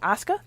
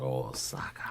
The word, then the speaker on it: Osaka: slaughter and uh Naomi Oscar I always say her name like the wrestler osaka osaka osaka like the city in japan that's not gonna help